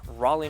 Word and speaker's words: Raleigh: Yeah, gonna be happening the 20th and the 21st in Raleigh, North Carolina.